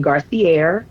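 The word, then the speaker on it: Garcierge: My business page is the cigar the business name Garcier is the proper way to pronounce it is G A R C I E R G E.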